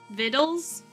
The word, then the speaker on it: victuals: look like it but it rhymes with little Mitchell viddle vittles so it's vitals every